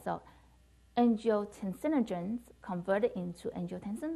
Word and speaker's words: angiotensinogen: Angiotensinogens is converted to, so angiotensin sinogens, right? Angiotensin sinogen, did I say it wrong? Angiotensinogen.